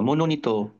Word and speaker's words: মনোনীত: পাশটা দেখবা আর পড়বা মনোনীত মনোনীতনীত দেখো ত শেষে কি আছে এখানে ত ওকার নাই কিন্তু আমরা ও কারণ পড়বো মানে ও এর উচ্চারণ করব হ্যাঁ এরকম কিছু শব্দ